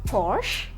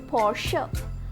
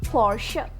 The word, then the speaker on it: Porsche: Do you say this as Porsche? However, the correct pronunciation is Porsche. Porsche.